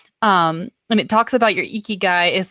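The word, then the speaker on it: 生き甲斐: Ikigai. Ikigai. Yeah, it's pronounced Ikigai pronunciation.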